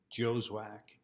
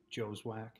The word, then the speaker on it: Joswiak: campers uh i uh joswack here that's how you pronounce my name joeswack i don't care how it's spelled just it's it's it's it's mr joeswack and that's my story